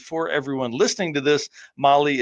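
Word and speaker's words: Mahle: And for everyone listening to this, Molly is spelled m ah l e.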